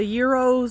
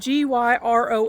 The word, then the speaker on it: gyros: Um so they sell the euros and stuff like that, which is what I like.